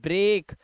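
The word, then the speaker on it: break: जैसे देखिए ब्रेक, इसे पढ़ के पढ़ते हैं ब्रेक।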